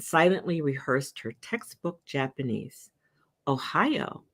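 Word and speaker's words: おはよう: Ohio, pronounced just like Ohio, for good morning.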